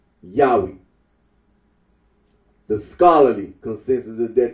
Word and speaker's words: Yahweh: can be little doubt that it is not Jehovah. Mar P. Arnold remarks that certain conclusions drawn from the pronunciation of as Yahweh would be valid even if the scholarly consensus were not correct.